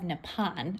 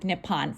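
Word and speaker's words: Nippon: little bit about the history of nepon which can also be pronounced nepon according to my research I'm going to stick with nipon for now nepon porcelain refers to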